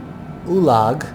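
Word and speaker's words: Oologah: a doozy passing over lake ulag if that's how you pronounce it o-o-l-a-g-h that's what this large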